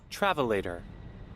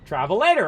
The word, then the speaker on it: travelator: Travelator. Travelator. All right, we haven't even pronounced it right.